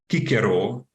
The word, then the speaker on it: Cicero: we know that uh the name Caesar was pronounced in fact kaisar or the name Cicero was in uh fact pronounced kikero and you know this